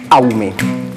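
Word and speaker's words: Awoumé: Justement, pour la consigne du jour, nous avons choisi le prénom Aoumé.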